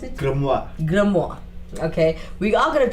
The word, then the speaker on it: grimoire: Alright, so I came across a book called the how do you pronounce it? Grimoire.